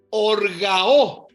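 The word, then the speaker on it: ὀργάω: La raíz de org es orgao. O R g a o acento en la O.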